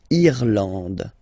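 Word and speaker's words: Irlande: pronounced like e eand irand okay n d and final uh not pronounced irand okay remember this and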